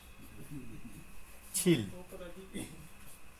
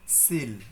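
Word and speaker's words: 칠: 7 ছিল। ছিল, এই যে এখানে যে সিল, এটা কিন্তু সিল না, উচ্চারণটা হচ্ছে 6 রসিকার ল। ছিল, মানে এখানে একটা গোত্তা খাবে, ছিল।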